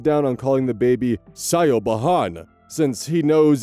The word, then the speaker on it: Siobhan: cause her teachers to call her Siobhan. Not at all how you pronounce it.